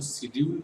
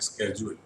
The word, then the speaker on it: schedule: और शेड्यूल के बारे में बता दूँ, शेड्यूल जो होता है ये प्रोनाउंसिएशन है ब्रिटिश का, ठीक है। इसका बड़ा अजीब प्रोनाउंसिएशन अमेरिकन लोग करते हैं, स्केड्यूल, ठीक है। तो आप देखोगे आजकल बड़ा स्केड्यूल भी यूज़ करते हुए, लेकिन चूंकि इंडिया में ब्रिटिश प्रोनाउंसिएशन हम लोग फॉलो करते हैं तो विल यूज शेड्यूल, ओके।